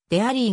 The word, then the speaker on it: dairy: するでアリーの英語本来の発音はレイリーではなくでアリーが近いなおデイリークイーンで